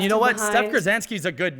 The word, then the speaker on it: Gurzanski: Like, people will say like GURZANAKI or like they'll just say it so butchered that's why I didn't want to be GURZANSKI. Yeah, you said it right the first time, which is great.